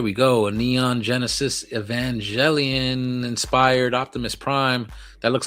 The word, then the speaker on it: Evangelion: he was close. He was off by only one syllable, whereas someone Say it. else here was. Say it. So it's Evangelion.